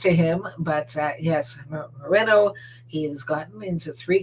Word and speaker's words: Moreno: did some inquiring that it's it's not moreno and it's not mourinho it's actually moreno so if he if